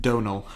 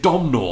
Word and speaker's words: Domhnall: How do you say it? Donal. I've been calling him Domhnall. It is spelt Domhnall, but it's Donal. It's Donal Gleeson.